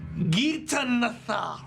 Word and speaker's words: Gitanathar: It's an old ancient language, Gaelic. It means Gata the serpent. And I'm sure Nathar has gone through many pronunciations, but that's how we pronounce it now.